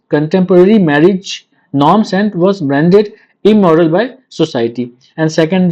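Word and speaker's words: Brieux: यहाँ पे जो यूजिन ब्रुक्स है इसका ब्रू है, ये भी फ्रेंच है तो लास्ट में एक्स का प्रोनाउंसिएशन नहीं होगा इसमें।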